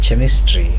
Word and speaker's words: chemist: is pronounced as not chemistry but as chemistry. Chemist and character, ch is pronounced as k, whereas chest and cheese, here ch is pronounced as ch.